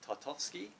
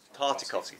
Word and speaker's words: Tartakovsky: armored obi-wan Kenobi from the I can never pronounce this guy's name right tatarskiy Tartakovsky Thank You mr.